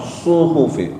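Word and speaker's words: صحف: Nah, di sini suhu suhu pakainya shad bukan sin bukan suhufi. Tapi pakai suhufi shad su bukan su ya pakai shad suhufil ula. Wah manyun manyong monyong gitu. Jadi kalau bacanya pakai sin maknanya beda nanti salah jadinya. Inna hadza lafil lafisufil ula. Pakai shad bukan pakai sin.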